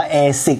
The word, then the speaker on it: ASICS: นี่ เลย นะ ครับ เอซิก นะ ครับ ผม อ่าน ว่า เอ สิค แนว เป็น ครั้ง แรก